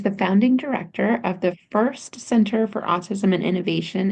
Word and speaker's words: Frist: And just to an important correction on the pronunciation, that's the Frist Center, not Oh, it First. I is know it Frist.